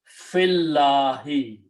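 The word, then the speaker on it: فِي اللهِ: dhamma to a kasra, and you combine fa with the lam, so you pronounce fillahi. Okay, so you don't pronounce the sound of ya here, and you don't pronounce the sound of alif, so it becomes hamzatul wasl.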